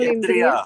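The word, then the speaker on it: इन्द्रिय: Is it called Indriya?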